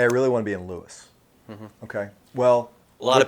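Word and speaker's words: Lewes: like, hey, I really want to be in Lewis.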